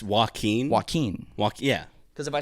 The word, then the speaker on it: Joaquin: his name, Joaquin Phoenix, I force myself to say Joaquin because I guess it would sound like I'm saying walking Phoenix, like he's a walking Phoenix.